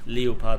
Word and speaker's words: Leopard: know is or leopard if you're English and insist on it it's called leo part and German so I insist on pronouncing it that way I think that a